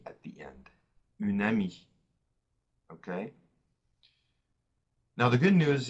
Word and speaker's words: amie: If it's a female friend, we're going to add an E at the end, une amie. Okay? Now, the good news is the E is silent, okay?